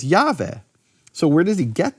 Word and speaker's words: Jahve: 700 years later, that the Samaritans pronounce God's name as Jahve.